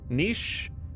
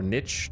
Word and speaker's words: niche: Um, the games that I mentioned are games that have deeply niche or niche depending on your desired pronunciation because both correct.